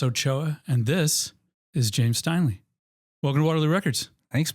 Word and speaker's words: Steinle: I'm Ochoa, and this is James Steinle. Welcome to Waterloo Records. Thanks, man. Yeah. Did I pronounce that right?